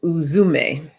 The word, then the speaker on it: Uzume: see what she has to tell us okay pronounce uzume uzume she's the ancient japan's shaman goddess and